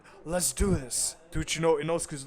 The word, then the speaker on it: Inosuke: And if you guys don't know, yeah, like he's from Brazil and they pronounce it Inuzuke, but it's Inosuke.